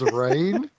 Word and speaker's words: Reine: Her name's Reine, which is like I don't understand what language is, but it's not spelled like rain.